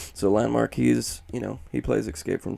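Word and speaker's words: LVNDMARK: So Landmark, he's, he plays Escape from Tarkov, and he's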